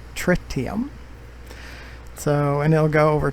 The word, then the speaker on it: tritium: 16,000 tons of tritium this is the way frontier says we should pronounce it tricked him so and it'll go